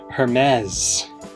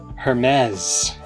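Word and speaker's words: Hermès: keynote that Hermes this apparently pronounced her mez her mez the iPhone 10 R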